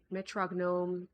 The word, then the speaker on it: Metrognome: Metrognome is said like metronome. The G is silent.